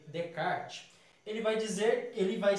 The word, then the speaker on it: Descartes: em algumas outras aulas se escreve descartes mais lê de card ele vai dizer ele